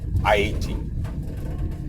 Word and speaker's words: Haiti: And so the thing is, because Haiti, that's the correct way to pronounce it, Haiti, okay?